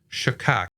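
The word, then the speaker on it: שחק: the concordance it is the word Shaka s h c h a q so we'll just go with Shak for now but that word means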